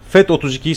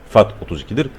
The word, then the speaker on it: FAT32: Pencereden dosya sistemi olarak FED 32'ye seçeceksiniz arkadaşlar bakın ntfs FED 32 ve exfat var Biz fat 32'ye seçiyoruz Türkçe olarak söyleyeyim okunuşu fat 32'dir buradan seçiyoruz ve hızlı